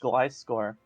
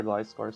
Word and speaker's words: Gliscor: Let's see if there's any other Gliscor sets. I'm sorry, Glisker. Don't say it like Glisker. If you're gonna say it like Glisker, you have to pronounce Gligar the same way.